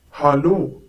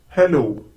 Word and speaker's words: Hallo: Once again, hallo. This is the most commonly used form of greeting in Germany. Notice the difference in pronunciation. It's hallo and not hello.